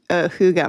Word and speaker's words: hygge: I looked this up yesterday for how to pronounce it. Huga.